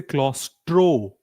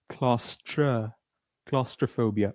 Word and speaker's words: claustrophobia: And the last one is claustrophobia that many people mentioned is enclosed spaces which is please repeat after me claustra. We don't say claustro. We say claustra. Claustra claustrophobia.